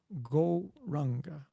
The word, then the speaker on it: Gauranga: this is our mantra go ranga and for this particular meditation we will divide gauranga into four syllables go rah the technique itself is